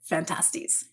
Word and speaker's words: Phantastes: different versions yeah um there are multiple different ways to pronounce fantastics but the majority of mcdonald's scholars do pronounce it fantastics yeah but you should